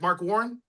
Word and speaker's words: Mark Warren: That's how you pronounce it, correct? Mark Warren?